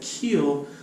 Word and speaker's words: Kuehl: We actually practiced it the other day, and he said it's like keel, like a boat, not like I'm going to kill you. It's keel, and that's spelled Kuehl.